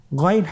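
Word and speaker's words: غين: উচ্চারণ করা যাবে না যেহেতু হরফটি মোটা এজন্য মোটা করে উচ্চারণ করতে হবে মাশাল্লাহ আলহামদুলিল্লাহ আমরা আজকের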